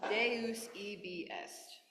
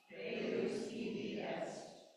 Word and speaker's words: Deus ibi est: Deus ibi est. Deus ibi est.